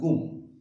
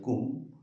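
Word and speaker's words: cwm: দেখা যাক, one syllabic word হচ্ছে যেমন ক্যাট, এটা উচ্চারণ কুম, সি ডাব্লিউ এম, কুম।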